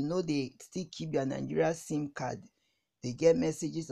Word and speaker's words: NIN: national identification number nin the national identification number pronounced nin is what identifies an